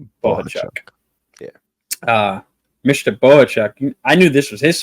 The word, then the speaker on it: Bohachuk: me out s sge there's no G in there it's s bohachuk yeah Bo yeah uh Mr bohachuk I knew this was